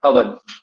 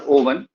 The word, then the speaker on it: Owen: and he was Wilfred Owen. Pronunciation would be Owen, not Owen. Pronunciation is Owen. Wilfred Owen, Owen, O-W-E-N.